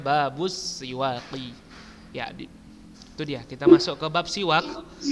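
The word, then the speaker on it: بابُ السِّواكِ: Bacanya Babus Siwaqi.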